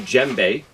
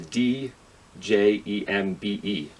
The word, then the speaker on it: djembe: And the name djembe is spelled with a D, J-E-M-B-E. So the D is silent, so you don't pronounce the D.